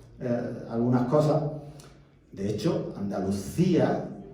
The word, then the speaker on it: Andalucía: algunas cosas de hecho Andalucía se lo pronunciamos con c sonido Z Porque eran cc anes pues y no tenían que haber pronunciado Andalucía porque Andalucía viene de andaluz con ese final Entonces como er c antes